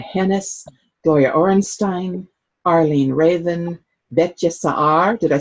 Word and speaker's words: Betye Saar: Gloria Orenstein, Arlene Raven, Betye Saar. Did I say that right? Okay, Betye Saar? Betty Saar. Betty Saar, okay, simpler than it's spelled, okay.